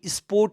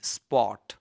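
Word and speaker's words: spot: एसपीओटी स्पोर्ट भन्ने होइन, स्पट, स्पट।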